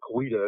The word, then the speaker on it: Coweta: William McIntosh was the Creek or the Coweta chief of the town of Coweta, which are Coweta as people pronounce it today.